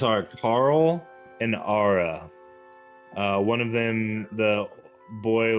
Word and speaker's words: Aara: Carl, like Carl, Carl, and Ara, which is spelled Aara. Ooh. Ara.